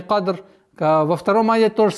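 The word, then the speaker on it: قدر: Каф твердый звук, даль мягкий звук, но однако есть калькаля. Ара при остановке уходит, здесь огласовка уходит, становится сукуном, она твердое произношение. То есть кадр.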